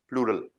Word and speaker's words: Plural: बहुवचन मतलब प्लूरल। German में क्या बोलते हैं प्लूरल को? प्रोनाउंसिएशन क्या होता है? प्लूराल। आल, ए एल आ गया तो प्लूराल। प्लूराल।